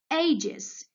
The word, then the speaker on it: ages: Here we have S. Why did I put 2 over S? Because it pronounces Z.